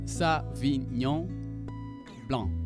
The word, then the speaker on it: Sauvignon Blanc: Let's have a look at savon blanc pronounced song blanc.